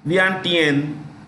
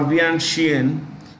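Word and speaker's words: Vientiane: Thailand is Laos Laos say cap is um vant or vianen vant is spelled like v i en I repeat v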